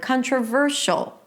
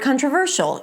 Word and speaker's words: controversial: So, let's take the word "controversial". You know that the primary stress should be before the suffix.